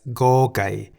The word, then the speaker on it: ก ไก่: The Thai consonant Go Gai sounds like the G in the word get at the beginning and end of a syllable. Go. As Go Gai is a stop final